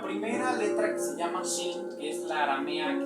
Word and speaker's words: Shin: Porque con estos dientes decimos Shin, y para decir el nombre de la letra tenemos que soplar muy fuerte. Inténtelo conmigo. Shin. Una vez más. Shin. Tenemos que soplar a los dientes de enfrente para poder pronunciar la letra.